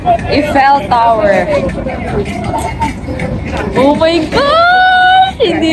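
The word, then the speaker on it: Eiffel: Guys, ang pronunciation daw dito notifel. It's Ifel Tower. Ifell tower.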